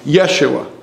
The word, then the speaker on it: Yeshua: it's this Yeshua or if we're going to say it properly Yeshua putting the the emphasis on the first the first um vowel or the first consonant I should say um syllable we'll get there it